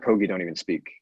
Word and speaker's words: Kogi: and yeah you know I don't want to mispronounce this again the Kogi Kogi yep the Kogi tribe and and really feeling